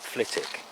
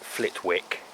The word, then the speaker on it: Flitwick: my place names book when you look up flitik by the way don't ever come here and pronounce it flitwick they'll put you in the